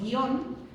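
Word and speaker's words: guion: Y por eso guión, que pronuncio en una sola sílaba, guión no lleva tilde.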